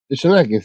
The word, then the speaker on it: Schnake: natalicio de Óscar Perdón no sé cómo se pronuncia schnake Shake sí Óscar schnake tal cual que fue parte